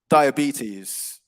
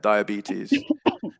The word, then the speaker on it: diabetes: so we would say diabetes diabetes okay okay yeah yeah so it's a longer e sound on the penultimate syllable the second to last syllable yeah diabetes but yeah no worries